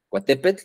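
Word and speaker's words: Coatepec: cerro en en el Cuatepec cerro de las serpientes cuatepet más bien sería la la pronunciación adecuada en aguat eh Y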